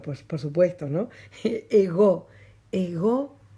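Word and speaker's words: εγώ: yo yo en griego es ego ego no ego ego con acento en la omega ya habíamos dicho en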